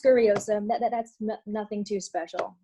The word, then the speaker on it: Scuriosa: more i so s-c-u-r-i-i-o-s-a yeah it's it's just pronounced scurryism that that's nothing too special no no simple